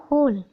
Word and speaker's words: whole: WHALE वहेल, इसको वहेल कैसे पढ़ रहे हैं, इसका मतलब कि एच के बाद जब ओ आया तो यहाँ पर डब्ल्यू साइलेंट हो गया, हो, होल।